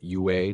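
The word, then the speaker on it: 越: A palavra Viet, pronunciada Yue no mandarim moderno, parece ter surgido como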